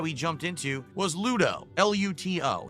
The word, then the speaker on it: Luto: L U T O. Why does he say such a hard T? Well, because then people know it's a T and not a D.